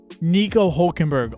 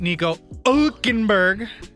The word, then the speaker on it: Hülkenberg: 2 points behind him is Nico Hülkenberg on the best year. Wait, you're not saying it right. Nico Hülkenberg.